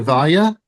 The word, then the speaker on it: Vallia: It's with Texas School, and I'm here with one of our fabulous instructors, Vallia.